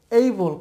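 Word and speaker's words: able: তাহলে খেপ খেপ আর এ বি এল ই এইবল এটা আমরা বলি অ্যাবল বাট এটা উচ্চারণ হবে এইবল খেপ এইবল এরপরে দেখুন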